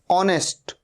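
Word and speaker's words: honest: ऑनेस्ट, ओ से शुरू हो रहा है साउंड, एच का साउंड नहीं आ रहा है।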